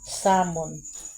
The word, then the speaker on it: salmon: salmon at the sea guys alamyo ba salmon pero silent l pala yan salmon marami akong nalaman na